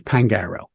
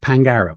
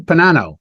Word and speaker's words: Pangaro: important to me so my name is pangaro that's how you say it pangaro it's really very simple but I will have defense attorney say detective Pano detective Pino detective mararo detective Pago detective and they say